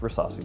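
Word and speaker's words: Rasasi: up next we have Ross Saucy brilliant bronze yes I know it's pronounced rassi so this one is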